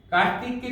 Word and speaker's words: কার্তিক: এবং এই রেফ সব সময় বর্ণের উপরে বসে, এবং যে বর্ণের উপরে বসবে রেফের উচ্চারণটি আগে হবে, রয়ের মতো করে হবে। যেমন কার্তিককে যদি আমি ভেঙে লিখতে যাই তাহলে আগে আসবে র, রেফ।